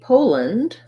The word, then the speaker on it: Poland: the uh sound russia and lastly poland we have first syllable strass we have a true o vowel there so it's just like the word pole or this word pole make sure you do a nice clear long o sound and then rather than